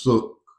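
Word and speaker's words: שׂוּךְ: on or translated from is pronounced sook, like took, but with an S.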